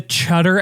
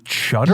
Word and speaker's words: Cheddar: Are you saying cheddar? You're saying cheddar, like the cheese. Cheddar. You said chutter, like a chud.